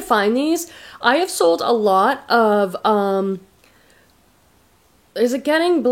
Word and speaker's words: Alo: I got these Alo aloe leggings how do you say it you guys it's Alo I've heard people say aloe I've heard people say